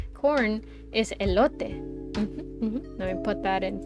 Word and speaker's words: elote: Just call it elote and people will know what you're saying. So it's pronounced elote.